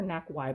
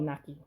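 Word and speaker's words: Naky: I remember people made fun of me because I called her Knack Y.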